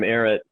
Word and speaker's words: Barratt: president of BAM, Ivan Barratt. Just a coincidence that it rhymes with Barrett.